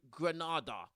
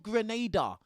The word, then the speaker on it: Grenada: She talked about she's going to Granada, bro. It's called Grenada. Maybe you should know how to pronounce the country before you go there.